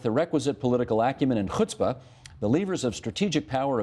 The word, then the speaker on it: chutzpah: And thank you for pronouncing chutzpah with the requisite Yiddish.